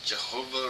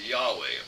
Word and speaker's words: Yahweh: is stupid or or Jehovah or some form of Jehovah but nowadays we know that Scholars all agree that the name of God is pronounced Yahweh because it was written in Hebrew and not whatever they